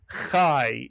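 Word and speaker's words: chai: Kai is correct. The is always pronounced I in Hebrew.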